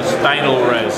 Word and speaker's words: Stynylrez: We've had a wonderful reception here at the con, the Stynylrez.